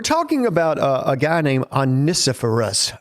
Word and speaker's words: Onesiphorus: We're talking about a guy named Onesiphorus, 5 syllables. Yeah. That's the only way I could remember to pronounce it, Onesiphorus.